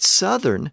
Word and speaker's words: southern: to be pronounced long but Southern has a short vowel the uh sound well all of this